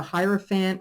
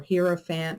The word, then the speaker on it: hierophant: have with it is the hierophant or herofant however you want to pronounce it and this could be